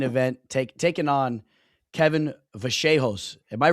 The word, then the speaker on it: Vallejos: I was pronouncing him Kevin Vehos and then people were making fun of me. You know, I try to is Kevin. Well, that whenever you're watching the broadcast, but when you watch the broadcast, they they pronounce it vaseos. I think that's like the actual way, you know, like maybe that's how you say it in like Spanish.